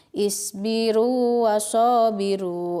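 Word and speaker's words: اصبروا وصابروا: Jadi dibacanya seperti biasa, berlaku hukum mad tabi'i. Isbiru wasabiru.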